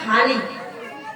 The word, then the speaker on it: ভালি: পুরাকালে পরম ভক্ত ভালি, ভয়াকার লয় রশ্মি, কিন্তু অনেকে উচ্চারণে ভাবতে পারেন কি বলছে, এটা ভালি।